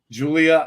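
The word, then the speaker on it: Giulia: on YouTube to TNA Julia equals gulia Julia gulia like the one from uh The Wedding Singer pronounced Julia yeah nice so the G is the J makes sense that makes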